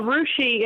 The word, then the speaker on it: Russia: we have a Rushi in Ohio, but it's spelled like Russia.